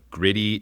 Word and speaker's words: Griddy: I have Brian from Gritty joining me. Gritty, not to be confused with the Philadelphia Flyers mascot, spelled differently, they're pronounced the same.